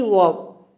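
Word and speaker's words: verb: बीच का जो लेटर है ई आर, इसको आपको साइलेंट रखना है। समझ लीजिए कि साइलेंट रखना है, इसको प्रोनाउंस नहीं करना है, इसको नहीं बोलना है। जैसे कि वर्ब, केवल आपको भी का व हो जाएगा और बी का व, इस तरह से।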